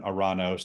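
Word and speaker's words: οὐρανός: in Hebrew it's sh in Greek it's oranos where we get the the the word Uranus um yeah so I I I I use the more Greek pronunciation oranos to avoid that but to avoid well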